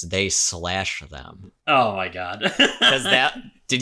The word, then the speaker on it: They/Them: you're supposed to pronounce it they slash them because it's Oh, like well.